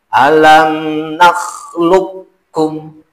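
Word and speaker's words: ألم نخلقكم: Alam nakhluqukum. Alam nakhluqukum. Alam nakhluqukum. Keterangan. Cara mengidghamkan qaf, cara memasukkan qaf dan kaf.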